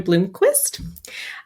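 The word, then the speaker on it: Blomqvist: they're bringing up Joel I'm saying it wrong sorry it is uh a European pronunciation Bloomquist uh he's been brought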